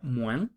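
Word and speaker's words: moins: le son las 11 menos mu se pronuncia mu repitan después de m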